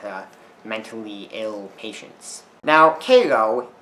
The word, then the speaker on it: Cairo: mentally ill patients now Caro is actually named after Kyo Egypt despite it being pronounced differently but they're spell the same so I guess that's